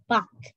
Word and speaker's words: Bach: His name is pronounced Bach.